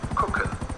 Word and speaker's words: gucken: to gawk at something, is pronounced more like gucken with a K sound at the beginning.